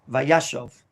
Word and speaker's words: Vayeshev: called a kamat katan and therefore it's blackberry pronounced shove vayashov all of a sudden ruvain shows up on